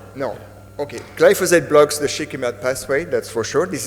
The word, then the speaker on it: shikimate: but does AMPA block the shikimite pathway? Did I say that right? Shikimate, yeah. The shikimate, yeah. Does glyphosate block that pathway? AMPA. Sorry. AMPA. Sorry. No. Okay. Glyphosate blocks the shikimate pathway, that's for sure.